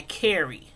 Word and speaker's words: Kharey: Corey Wise, who, by the way, nowadays, Corey goes by Kerry. Back then, he went by Corey. Now he goes by Kerry, and it's spelled Kharey. He changed his name for obvious reasons.